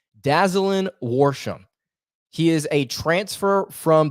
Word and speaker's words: Dazalin Worsham: roster already worsham as i believe that's how i believe you pronounce his name dazzling warsham he is a transfer